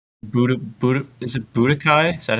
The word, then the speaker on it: Budokai: Is it Budokai? Is that how you say it? oh yeah, yeah, the it's yeah, Dragon Ball Budokai 4.